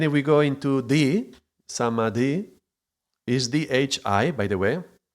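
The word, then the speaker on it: समाधि: Is different in the way that D-H-I implies it's an aspirate sound.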